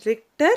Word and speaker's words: Richter: instrument called richter scale it is richter scale h is silent here okay and people who